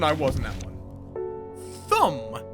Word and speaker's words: Thumb: Thumb, pronounced tomb.